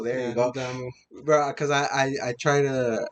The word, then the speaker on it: Damu: Damn you. That's funny. That's funny actually. Like my friend Andy calls me "damn you" just to fuck with me, but yeah, it's Damu. Damu. There you Yeah, go, Damu.